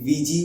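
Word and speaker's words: Ouija: करते हैं जीजी बोर्ड इसकी स्पेलिंग है ओ यू आई जे ए लेकिन प्रोनाउंस इसे वीजी किया जाता है इसे आपने बहुत सी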